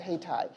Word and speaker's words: Haiti: So we United Way now and the and the community was called Hatai named after uh Haiti but they pronounce it Hatai.